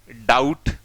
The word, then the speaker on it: doubt: डाउट। लो जी, देखो आउ आउ, आउ आउ, सेम साउंड आ रहा है, जबकि स्पेलिंग देखो यहां अलग हो गई है।